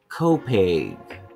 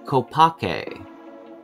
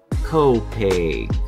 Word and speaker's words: Copake: Columbia County located against the Massachusetts border is pronounced Copeg Copeg not Copake but Copeg